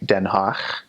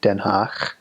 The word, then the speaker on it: Den Haag: Dutch does have a guttural in it. It has a guttural G. So instead of G, it makes a sound. So like Den Haag, H-A-A-G, Den Haag, or Groningen, G-R-O-N-I-N-G-E-N.